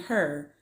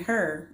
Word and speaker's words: Hur: And so Aaron and Hur, we're going to go with Hur. It's spelled H-U-R. We're going to say Hur. We're going to roll with that.